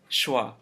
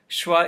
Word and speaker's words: schwa: an unstressed vowel sound this is not SWA schwa is unstressed there's way too much stress here now this is more like schwa to make the schwa